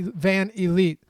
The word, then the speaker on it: VanVleet: here eMac says lafi it's pronounced Freddie van elite sorry eMac literally has a